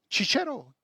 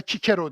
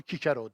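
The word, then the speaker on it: Cicero: eğilmedim yalan söylemedim sapmadı çiçero Aslında kikero diye okunur doğrusu bu çünkü Romalı onu kikero derdi kikero Roma'nın büyük adamı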